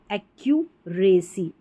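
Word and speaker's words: accuracy: एक्यूरेसी acute ये वाला double C यू को क्यू ये वाला आप क्यू पढ़ेंगे।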